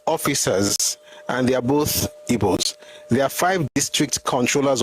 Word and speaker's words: Ibo: It's not ego, it's ebo. So we spell it ibo.